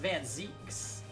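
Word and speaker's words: van Zieks: Oh, it's pronounced Van Zeeks.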